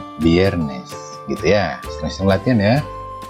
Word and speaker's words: viernes: susah untuk mengucapkannya ya, karena huruf V ini pengucapannya itu merupakan gabungan antara huruf V dan B. Jadi contohnya verde, viernes, ya, bukan verde atau verde, bukan viernes atau viernes, tapi verde, viernes.